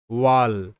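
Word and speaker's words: wall: এখানে কিন্তু এ আ হিসেবে উচ্চারিত, এরপরে তো দুটো এল রয়েছে ঠিকই, তারপরও কারণ কি এখানে ডাব্লু এ এটা পেয়ার কাজ করছে, ওয়া সাউন্ড হবে, ডাব্লু এ ওয়া হবে। তো এইরকম যখন প্যাটার্ন দেখবে ডাব্লু এ থাকছে তারপর ডাবল এল, তখন সেটা ওয়াল বলবে বা ওয়া বলবে।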